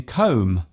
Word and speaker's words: comb: spelling is very different some silent letters seem to have no logical purpose at all for example the b in comb womb and bomb there is only one